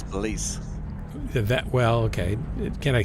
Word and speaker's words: Belize: It's not Belize, it's Belize.